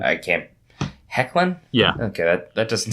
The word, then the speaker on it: Hoechlin: to Tyler ashlynn is that guy's name ashlynn hoechlin I came hoechlin yeah okay that doesn't sound right I checked